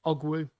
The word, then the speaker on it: Ogwu: Let's have a look, see how we say his name then. Ogwu. There we go, it's Ogwu. No more butchering of that.